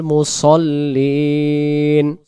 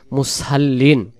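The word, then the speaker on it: مصلين: লেখা রয়েছে অনেক বাংলাতে মুসাল্লিন। মুসাল্লিন যদি পড়ি, তাহলে এইখানে ভালো করে খেয়াল রাখবেন, এই অক্ষরটার নাম হলো সদ, সদ জবর স।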